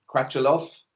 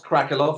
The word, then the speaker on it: Crachilov: glad today to welcome Anatole crach aloft not crackle off I've been mispronouncing his